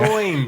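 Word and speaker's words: Des Moines: I think he's living in Dez Mo. I don't know how you pronounce that town. De Moines. De Mo. De Moines.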